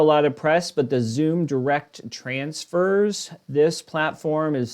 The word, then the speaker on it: Xoom: So Zoom, in my opinion, which is XOOM, it's spelled out right here in case you want